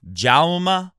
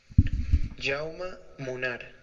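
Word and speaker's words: Jaume: to beat JMA munana listen to this this is how you say his name I'm not making it up JMA M the E is almost like a German pronunciation JMA that's how you say the guy's name comment below if you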